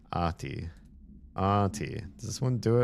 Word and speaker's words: Ahti: The IPA on this, the International Phonetic Alphabet, not IPA like beer, says Ahti. Ati. So the H is just like there to tell you hold the A a little bit longer. There are no silent letters. You say that, but the H is not pronounced. And each syllable receives equal stress.